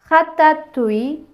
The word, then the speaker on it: ratatouille: grenouille, citrouille, ratatouille இப்படி நாங்கள் அந்த உய் என்று சேர்த்து உச்சரிப்போம்.